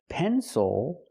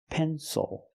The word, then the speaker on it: pencil: at a word like pencil the stresses on the first syllable it is not pronounced ill it is pronounced o pencil not pencil but pencil thank you